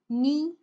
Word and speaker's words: knee: Then you start with the letter N, knee.